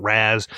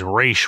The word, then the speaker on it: Ra's: my only gripe is the pronunciation of Rachel Ghul I grew up with the animated series it's phonetically spells out here the version of race not Raz I know it's highly